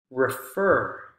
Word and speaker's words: refer: and and a root the stress goes on the root form not the prefix the prefix is unstressed